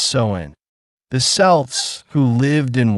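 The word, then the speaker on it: Samhain: The origins of Halloween go back over 2,000 years to an ancient Celtic festival called Sin, pronounced Soen.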